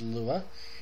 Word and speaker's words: Lua: looking up what Lua means and it is pronounced Lua and it is Portuguese for Moon so just